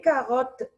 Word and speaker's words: carottes: What is the silent letter here? S. S is silent because it's the last letter of the word.